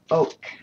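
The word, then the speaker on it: Oke: Oak. O-K-E is how that one's pronounced.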